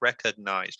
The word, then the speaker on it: recognized: there reaganized records so that g is kind of you don't really need to pronounce it it's it's a very small so it's recognized reckon like recognized recognized recognized and that ed do it like a t sound recognized as recognized